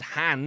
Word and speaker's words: Han: See, in The Empire Strikes Back, Lando pronounces Han as if to rhyme with can, no matter that Han himself pronounces it to rhyme with non essentially, or not in my accent.